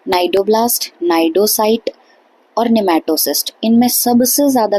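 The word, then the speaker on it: cnidocyte: अब ये जो नाइडोसाइट और नाइडोब्लास्ट है ना, इसको हम बोल रहे एन से हैं, बट एक्चुअल में इनकी स्पेलिंग सी से शुरू होती है।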